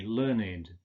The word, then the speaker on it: learned: But in this case, with the meaning gebildet, Sprache, Bildungswort, gebildetes Wort, we say learned.